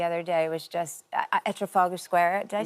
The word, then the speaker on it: Trafalgar: So being there the other day was just at Trafalgar Square. Did I say it right? Trafalgar.